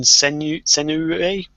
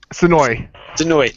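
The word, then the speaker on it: Senoue: Also, they've got live music from, I can never pronounce this guy's name, Jun Senue? Sonoy, thank you.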